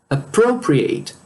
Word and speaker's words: appropriate: Nesse caso, o verbo para distinguir, ele é pronunciado como ate. E como adjective, ele é pronunciado como it.